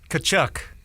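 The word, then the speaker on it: Tkachuk: you say it right there's a K in there I think it's kachuk I think the T might be kind of Silent oh okay uh Matthew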